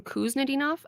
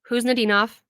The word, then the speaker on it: Khusnutdinov: Previously, I was saying Kuznetsov. I was wrong. I thought I had it right. I was wrong. You do not pronounce the K. It is Kuznetsov, and I hope that